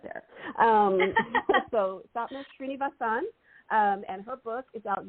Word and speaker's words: Sapna Srinivasan: Well, for everybody who's listening, I've been talking to Sapna Srinivasan. Is that I say it right? Perfect. Yay. Because I phonetically spelled it out for myself right there. So Sapna Srinivasan, and her book is out now, A New Mantra.